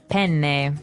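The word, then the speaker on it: penne: pronounce uh we said pen in uh in English American English but in proper Italian it would be pen pen so you you you double pronounce the consonant yes what about fuini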